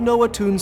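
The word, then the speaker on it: Noatun: But more importantly, I'm investigating an old Noah Toons story, known as The Legend of Aesir. Noah Toon, that's how it's pronounced.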